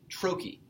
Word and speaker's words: trochee: And in fact, it is what's referred to as a trochee. T-R-O-C-H-E-E. A trochee is a 2-syllable foot, with the first syllable being stressed and the second one being unstressed.